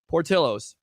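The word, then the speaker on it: Portillo's: the place called it starts with a P Portillos oh he did it correctly how about that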